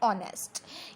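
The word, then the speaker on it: honest: लेकिन आपको पता है एच हमेशा साइलेंट होता है, हम ओ से स्टार्ट करते हैं ऑनेस्ट, तो ओ की आवाज़ आ रही है, तब आप क्या लगाओगे इसमें एन।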